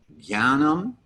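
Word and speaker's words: jñānam: And the J with the N next to it, as a general rule, will lose its J-ness, J, and become more of a G sound, gya. So these two words are going to be pronounced jnanam and jnaninas.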